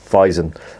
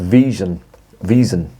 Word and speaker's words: Wiesen: Weizen. Sorry, it's pronounced Wiesen, I should say.